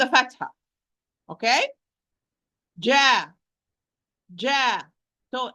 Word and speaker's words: ج: Do not move your vertically or as if you're pronouncing fatha or kasra. No. Aj.